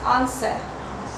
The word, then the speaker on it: answer: W не читается. Answer.